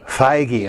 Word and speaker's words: Feige: Feige, okay.